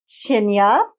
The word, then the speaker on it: Tinne: So like I said that this shina t i n ne is pronounced shina and it's the letter t.